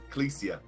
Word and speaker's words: Clytia: So honestly, pure compositional outdraft right there from I always want to pronounce that name wrong. Clytia. Yeah, Clesia. It's Clesia.